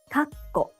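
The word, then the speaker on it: かっこ: It has a small tsu in the middle, and is pronounced in 3 syllables. Kako, kakko.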